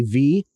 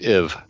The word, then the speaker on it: V: They have the Aphrodite V number 3. I believe it's pronounced Iv. No, it's just V. There's no IV before it.